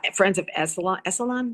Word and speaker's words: Esalen: Esalen, it's pronounced yes. Esalen. Yes. Yes. Ellen.